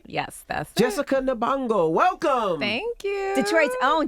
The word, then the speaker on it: Nabongo: Yes, that's Jessica Nabongo.